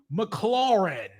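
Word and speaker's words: McLaurin: They saying Terry Mcccluren. He says it very like a lot of emphasis on the second part of the name.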